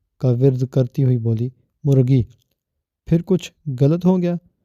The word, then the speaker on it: مرغی: درست تلفظ مرغی نہیں، مرغی ہے، اور یہ غلط نہیں ہوتا، غلط ہوتا ہے، غین سے غلط۔ مگر پھپھو، اس سے فرق کیا پڑتا ہے؟